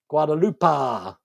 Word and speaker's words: Guadalupe: Pronounce the a long A in Guadalupe. Guadalupe.